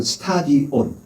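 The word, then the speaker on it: στάδιον: 헬라식 발음은 스타디온 영어로 하면 스타디온 어디를 말해요? 원림픽 경기장이라든지 주 경기장을 얘기할 때 스타디움이라고 말합니다.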